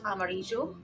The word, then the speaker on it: amarillo: here V is D and Double L is show so Amarillo birthday red is I